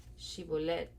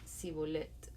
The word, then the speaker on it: Shibolet: Si decía el hombre: No, no lo soy, ellos le pedían que pronunciara la palabra Shibolet. Si era de Efraín, diría Sibolet, porque a la gente de Efraín le cuesta pronunciar bien esa palabra.